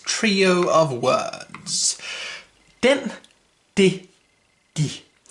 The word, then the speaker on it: det: Den, de, de. Note that the T here is silent, which is very unusual, but it's pronounced de.